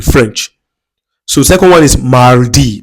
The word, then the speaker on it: mardi: So, second one is mardi. Please, make sure that you pronounce that R.